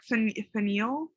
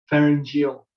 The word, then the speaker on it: pharyngeal: Pharyngeal. Pharyngeal.